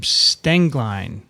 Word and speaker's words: Stenglein: is i'm sure sorry if i mispronounced your name stangline did i get it you got it right good stenglein welcome to twiv thank